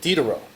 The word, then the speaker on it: Diderot: for Jeff Peachey's lecture, Reconstructing, I think it's Diderot. Did I pronounce that? Okay, Diderot.